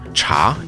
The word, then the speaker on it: 茶: bitter plants Etc and a slightly simplified character cha in Mandarin was exclusively used to mean tea